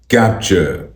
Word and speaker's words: CAPTCHA: इस वर्ड की correct pronunciation है कैप्चर, कैप्चर, कैप्चर, कैप्चर, कैप्चर, कैप्चर, कैप्चर, कैप्चर, capture,